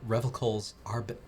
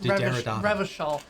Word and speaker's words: Revachol: It enables you to make fresh associations, to delve into world concepts from Jan Karp's postmodernist carpery to Revelkol's arabesque architectural style de Derrida. It's Revachol.